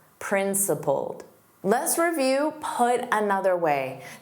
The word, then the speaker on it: principled: Now, principled, also notice the ED is pronounced as a soft D. And the vowel in the last sound is the same as you're saying pulled, pulled. In the past simple, pulled, principled, principled.